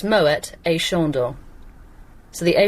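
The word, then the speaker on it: Moët: yeah because he was Dutch and so it's Moet a shondor so the a shondor is still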